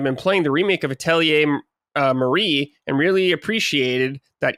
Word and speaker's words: Atelier: Sorry for the late write-in, but I saw Matty's playing Atelier. Is that how you say it? Yeah, Atelier.